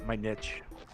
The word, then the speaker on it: niche: Nietzsche okay anyway continue their niche my niche I said it to rhyme with pitch but again you know